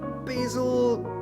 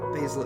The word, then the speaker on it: Basil: Let's see, just look it up how to pronounce Basil. Basil is the US pronunciation, and Basil is the UK pronunciation.